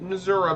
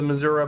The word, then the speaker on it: Missouri: County away from the Missouri Board it's Missouri no the front way is say Missouri let's play pronounce the state is Missouri not Missouri I don't know where